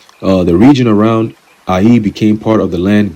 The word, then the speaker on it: Ai: And that name Ai is spelled Ai, which is pronounced as we have today Ai, which means heap of ruins.